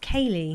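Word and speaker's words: céilí: Oh, pronounced Cayley. Oh, Cayley.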